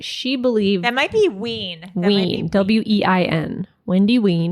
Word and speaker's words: Wein: That might be Ween. Ween, W-E-I-N. Wendy Ween. Because I had a relative whose last name was spelled like that, and they pronounced it Ween.